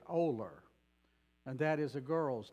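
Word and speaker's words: Olar: post office is and that town is spelled o l a r and we pronounce it oler and that is a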